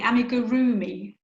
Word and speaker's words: amigurumi: And I now know how to say amigurumi. Is that right? Nearly. Amigurumi.